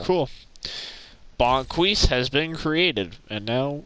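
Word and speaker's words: Bo'Quis: name the character uh bonquise bonquise okay how do you spell that bo1 apostrophe q-u-i-s okay apostrophe q-i-s q-u-i-s i q-u-i-s bonquise hopefully this is the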